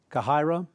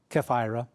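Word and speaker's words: Chephirah: their cities were Gibeon Cairo that's I'm sorry it's Jeff IRA it's how it's pronounced be Roth and Kerr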